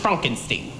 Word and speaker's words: Frankenstein: It's pronounced Frankenstein. Yes, yes, yes, yes, yes.